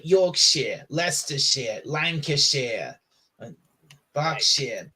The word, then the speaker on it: Yorkshire: Shire at the end don't pronounce it pronounce it Shear like like like like Yorkshire Lester share lanare box